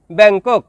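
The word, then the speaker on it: bengkok: শব্দটি লেখার ক্ষেত্রে লিখতে হয় ব্যাংকক, তবে এর সঠিক উচ্চারণ হবে ব্যাংকো।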